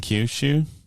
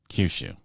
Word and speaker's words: Kyushu: in Japan as well cue shoes and Kyushu it's a homophone Kyushu is it actually pronounce Kyushu yeah okay the movie